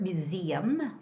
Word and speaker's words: museum: And other than that, we always see the word museum with the second syllable stress, and the word metropolitan.